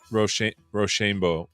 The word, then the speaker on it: roshambo: yeah I mean uh roshambo is our it's our it's how we pronounce it here on the AI show roshambo okay well I've